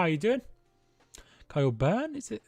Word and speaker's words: Byrne: Kyle Byrne, is it? Well, I think it's Burn it's pronounced, isn't it?